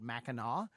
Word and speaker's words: Mackinac: to be up in the u.p uh called mackinaw which does not look like it should be pronounced like mac it looks like mackinac it